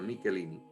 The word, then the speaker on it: Michelini: A principios de la década del 70, un sacerdote italiano llamado Ottavio Michelini, se escribe Michelini con CH pero se pronuncia Michelini, comenzó a recibir apariciones y mensajes de nuestro Señor Jesucristo.